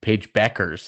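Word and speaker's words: Paige Bueckers: and Haley van left Paige Beckers is apparently how you say it I'm like where's the U Cameron Brink but now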